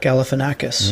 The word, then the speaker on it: Galifianakis: of some commonly mispronounced words here he is pronouncing zack uh galifianakis for you zach galifianakis yeah all right zach galifianakis yeah okay exactly